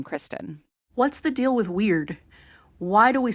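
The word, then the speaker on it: wyrd: What's the deal with weird? Why do we spell it that way?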